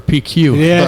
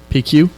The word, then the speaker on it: Pecue: P Q? Yeah, but but it's been pronounced that way for so long.